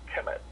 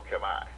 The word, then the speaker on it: Kemet: But most Moors do not realize that the name Kemet, often spelled K-E-M-E or K-I, okay, is pronounced Kemet. But sometimes it's pronounced Kemet or Kemai.